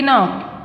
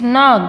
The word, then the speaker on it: knock: And knock, we don't say knock, it's knock because K is silent here.